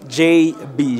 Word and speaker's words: Jay-B: Et est-ce qu'on peut prononcer JB pour nous? JB, J-A-Y trait d'union B, tout simplement.